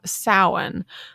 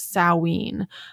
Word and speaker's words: Samhain: festival or celebration called Samhain. Or I've also seen that some people pronounce it Samhain. But this is spelled Samhain. So you definitely want to say Samhain.